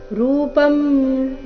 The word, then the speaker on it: रूपं: रूपम अनुस्वार का उच्चारण म की तरह, रूपम परं, यहाँ पर